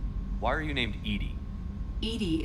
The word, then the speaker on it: EDI: are you named edie edie is the phonetic pronunciation of edi that is an acronym for enhanced defense intelligence let's discuss something else